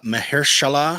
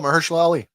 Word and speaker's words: Mahershala: terrible at this tonight I apologize if I mispronounce this one uh mahalah oh MERS Ali yes Mersa Ali blade is in the other